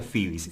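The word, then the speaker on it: Phoebe's: el disco le digo esto se pronuncia fibis claro se llama a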